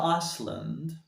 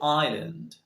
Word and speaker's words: island: what about this word did you sell iceland or iceland that's not correct again so say island island example la palma de